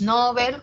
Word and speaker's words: Nobel: Pero si atiendo a lo que dice el DPD, al Diccionario Panhispánico de Dudas, me dice, sí, Nobel como grave está extendido su uso, o sea, está muy usado.